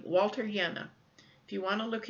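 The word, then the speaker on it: Jehne: of restoring our soils his last name is spelled j eh H NE e Walter yenna all right I'm going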